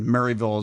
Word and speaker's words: Maryville: And graduated from Northwest Missouri State University, and Maryville is spelled like it should, Maryville. So Mary, as in the female name, yes. Not Mary as in Christmas.